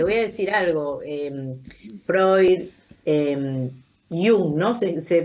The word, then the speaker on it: Jung: Freud, Jung, ¿no? ¿Se pronuncia? Sí, Jung, que señor.